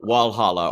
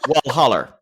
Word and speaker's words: Walhalla: That's kind of like, I think Providencia is more like Walhalla, which is spelled like Valhalla, but it's said Walhalla, or often Walhaller.